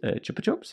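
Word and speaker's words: Chupa Chups: it's a chopper chops chopper chops is how you say it see i was right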